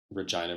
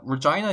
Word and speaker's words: Regina: But anyways, yeah, Regina is what I was taught when I was growing up, like, in Canada. Like, that's how you pronounce that word when you see that word.